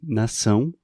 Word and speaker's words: nação: É, eu acho que é uma boa ideia começar com nação, por exemplo, país, nação. Uhum. Então, é uma vogal nasal. Ã, ão. Nação.